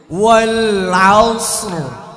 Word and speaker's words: والعصر: আমার রয়ের উচ্চারণ করি না, র যেখান থেকে শেষ আউস রটা জিব্বাটা ওইখানে নিয়ে লাগায় রাখতে হবে, তাহলেই ওয়াল আউসর।